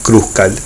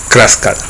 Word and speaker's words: Kruskal: A través de este video, de esta clase online, voy a siempre hablar de Kruskal, pronunciarlo de esa manera, tal cual se lee en castellano, pero hay que tener